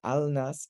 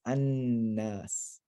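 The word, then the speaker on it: النَّاس: a noon, al nas, the lam merges into the noon, and you lose the lam and you double up the noon. So al nas becomes annas.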